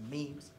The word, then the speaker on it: meme: be referred to as memes. But what you may not have known, it's actually pronounced meme.